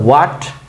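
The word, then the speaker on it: what: কি অন্যরকম কিছু কিন্তু হোয়াট এটা উচ্চারণ করবে হোয়াট ও অন্তস্থ আকারে আ ট হোয়াট হোয়াট is your name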